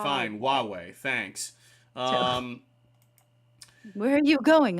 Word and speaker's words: Huawei: But it's pronounced Huawei. Huawei? All right, fine. Huawei.